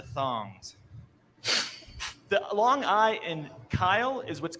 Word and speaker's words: Kyle: really heavy guy and people would say hey cow it's a map of the world i'm just going to say that the map of the world then i walked up to his desk and saw his name plate and said k-y-l-e oh kyle the long eye it all made sense then the thing to